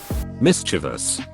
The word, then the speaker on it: mischievous: Luke isn't ruining ruin mischievous there's no after the V stop pronouncing it as if there is you bunts ACK milk